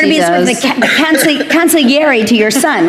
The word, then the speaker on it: consigliere: You're going to be, Yes, you're going to be sort of the consigliere to your son, right?